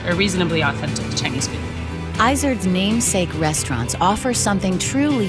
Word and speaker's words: Izard: bold, and adventurous Stephanie Izard. All of the goat restaurants started with my last name, which I say Izard, but in French it's Izard, which is a mountain goat that lives in the Pyrenees Mountains.